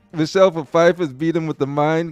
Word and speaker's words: Pfeiffer: Michelle Pfeiffer, that's how you pronounce it.